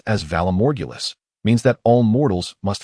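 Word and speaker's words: Valar Morghulis: Think remarked, "Valamorgulus, pronounced as Valamorgulus, means that all mortals must face death.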